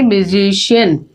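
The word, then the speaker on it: musician: म्यूजिशियन। तो जब ऐसे वर्ड्स होते हैं जहां पे सी के बाद आई ए या ई ए होता है तो हम प्रोनाउंस करते हैं उसको पूरा श।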